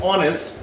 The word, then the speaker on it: honest: The first word is H, but because H is silent and the pronunciation is honest, O sound is there, that's why we use here N.